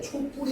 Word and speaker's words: 촛불: 초와 불이 만났어. 얘는 발음할 때 촛불이 됩니다. 그래서 거 사이쇼 붙이면 촛불 이렇게도 발음이 되거든. 자, 그래서 요거는 두 가지 다 발음이 가능합니다. 얘가 원칙 발음이고 얘가 허용 발음이야.